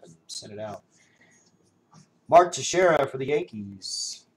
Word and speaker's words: Teixeira: Mark Teixeira for the Yankees. I learned how to say his name, everybody. I used to call him Texeraria.